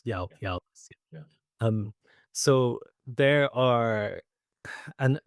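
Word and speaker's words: eòlas: Yeah, so because Scottish Gaelic, so Eolus for Eolus is Eolus. E-O-A, what am I saying? E-O-L-A-S. Eolus.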